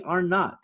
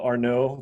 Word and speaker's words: Arnot: a lot you know are no they think the double t is silent and all that fun stuff so yeah no you